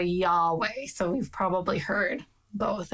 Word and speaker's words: Yahweh: title not his name the closest pronunciation we have originally we thought it was jehovah yeah for a long time english scholars were committed to jehovah and now we think it's closer to yahweh so you've probably heard